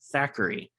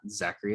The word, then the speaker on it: Thackery: and Hocus Pocus which Zachary is not spelled with a z it's actually Thackery it's t-h-a-c-k-e-r-y it wasn't